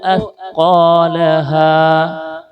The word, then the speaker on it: أثقالها: ഒന്നുകൂടി, വ അഖ്റജത്തിൽ അർളു അസ്ഖാലഹ. സീൻ്റെ ഉച്ചാരണം വരരുത് കേട്ടോ, അസ്ഖാലഹ.